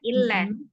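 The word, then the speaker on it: إلا: Perhatikan lagi di kata illa. Illa gitu kan Mi bacanya ya. Lam itu sifatnya tawasud, tengah-tengah, tidak terlalu ditekan tapi juga jangan terlalu dilepas. Nah, kalau tadi terlalu ditekan ya seolah-olah lamnya sedah, tapi lamnya tawasud. Jadi tidak illa tapi hanya illa, biasa Umi lam.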